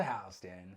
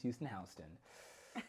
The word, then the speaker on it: Houston: South of Hston, not pronounced Houston.